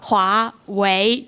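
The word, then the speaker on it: 华为: Oh, so it's not Hua. Yeah. Hua. 华为，对，为，华为。对，也是第二声，华为。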